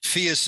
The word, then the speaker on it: PHIUS: do you say it, phius or phius, Katrin? Phius like, okay. Prius, right? Like phius we like want to Prius.